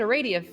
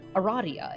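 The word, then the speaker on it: Aradia: on a beach and a radio or eradia excuse me found you us asleep in a field i i told uh my friend who got me into homestuck that the official pronunciation has has thusly been revealed and they were like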